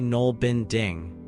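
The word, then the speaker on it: nålbinding: Nail bending, pronounced roughly null binding, looks somewhat like knitting at first glance, but it's created using a single needle rather than two.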